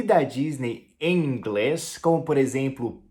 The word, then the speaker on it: Disney: palavra Disney em inglês, que não tem esse som de D no início e nem de A no final. Então a gente pronuncia Disney. Disney, e não Disney, ok? Então o D tem som de D mesmo, D, e o finalzinho é um som de I, então é Disney.